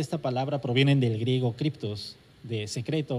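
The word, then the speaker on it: κρυπτός: Él me dijo que se pronunciaba criptos, que significa secreto.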